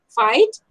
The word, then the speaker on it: fight: from these three words these four words neighbor daughter fight and strange can you tell me the silent letters gene look carefully neighbor and actually these are the pair of letters exactly G and engine SC G H here also G H here also G H and yellow so G H